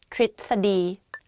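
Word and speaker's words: ทฤษฎี: but it's wrong though so the correct way of pronouncing this is tritadi behave put behave let's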